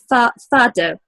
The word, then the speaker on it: fado: tiles, and also on fado music, which am I pronouncing it right? Yes, well, I'm trying to include fado in quite many events, because fado is something very Portuguese.